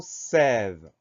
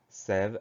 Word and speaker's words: sève: Le mot suivant, c'est le mot sève. Le mot sève est très court, il n'a que deux syllabes. Première syllabe, c'est S, E accent grave. Deuxième syllabe, ve, VE.